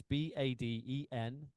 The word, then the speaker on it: Badenhorst: And then Badenhorst is Badenhorst. So Correct. Baden. So make sure Yeah. if you spell that out right, you should be able to find him, no problem.